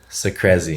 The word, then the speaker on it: Secrezi: Secrezi. Secrezi. So crazy. Yeah. It's He tells it like so crazy. So like crazy. Just like so crazy. And then blend it together.